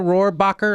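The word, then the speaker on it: Rohrabacher: D, was it Dana Roarbacher?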